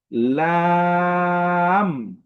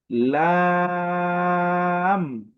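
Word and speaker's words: لام: আমরা যে হরফটি শিখবো সে হরফটির নাম হচ্ছে লাম লাম এই হরফের উচ্চারণটি একদমই সহজ।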